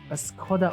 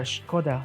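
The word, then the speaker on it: Škoda: my check it out this is a Skoda or Skoda depends on what country or how these are actually pronounce it oh I understand now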